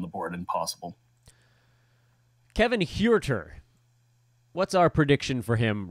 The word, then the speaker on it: Huerter: Sorry, I got to say it like it's a Hispanic name. He doesn't look Hispanic. No, he doesn't. But, you know, that's just how you pronounce it. It's H-U-E. Huerter.